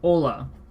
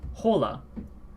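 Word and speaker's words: Hola: example given is Ola now notice how I said Ola and not Pola I think everyone who knows who's heard of this word has heard it without the H Ola is uh is this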